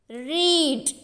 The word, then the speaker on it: reed: How do we pronounce this? Read, right?